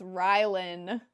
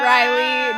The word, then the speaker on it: Rylan: no, it's Rylan. Not Riley, not Ryland, Rylan.